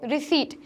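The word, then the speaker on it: receipt: नॉट रिसीप्ट, इट्स रिसीट, तो यहाँ जो पी है वो हमारा एक साइलेंट लेटर है, तो सही प्रोनाउंसिएशन क्या है, रिसीट।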